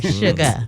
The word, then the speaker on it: Sugar: like your grandmama said without the R. Sugar.